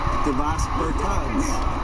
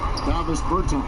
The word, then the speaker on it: Davis Bertans: Oh, well, now, at this point in my life, it's Davos Bertans. Is that how you say his name? Davis Bertans.